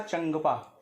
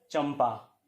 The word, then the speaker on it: चंपा: होता है वह तरह अगर आप यह उसका उच्चारण करेंगे तो आपको इसका उच्चारण करना पड़ेगा चंदपा जो कि अशुद्ध और पॉवर है पास जिस वर्ग में आता है उसका पंचमाक्षर मां होता है जो इस रूप में आपको दिख रहा है इसलिए इस का सही उच्चारण होगा चंपा ठीक है यहीं चीज